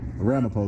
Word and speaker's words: Ramapo: Ramapo though is how you say it.